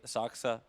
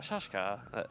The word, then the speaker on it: Saksa: It's just like everyone doesn't realize that I say Saksa correctly. I don't. As opposed to Shaksha? Shakshka. Shakshka. Shashka.